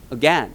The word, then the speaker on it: again: 또 우리가 많이 틀리는 발음이 이거야. 우리끼리는 뭐라고 발음해? 개인 이중 모음 뭐라고 발음해야 돼? again 이렇게 발음하는 거지.